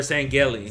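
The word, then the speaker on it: Sangheili: They're Sangeli.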